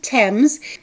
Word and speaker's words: Thames: Yes, the British pronounce it Thames.